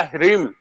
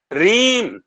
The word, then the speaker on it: ह्रीम: मंत्र, शबनम जी ने मंत्र बताए, उन्होंने कहा ह्रीम, HREEM, ह्रीम। हरीम। मगर ये लिखने में ह्रीम है, मगर इसका उच्चारण क्या है? रीम। हरीम। रीम है, साइलेंट है।